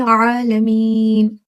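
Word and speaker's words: العالمين: अब जहाँ से हमारा मखरज हा का होता है, वहां से हम आइन बी प्रोनाउंस करते हैं। देखिए, आइन आ, ऐसी शार्प आपने वॉइस निकालना है, रब्बिल आलमीन।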